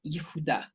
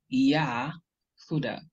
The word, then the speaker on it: Yehudah: But coming from this word here, it is incorrect because here we don't have a long ah, we have a shva or a schwa, which is a very short, quick sound, or it is silent. So this is Yehudah, Yehudah, not Yahudah.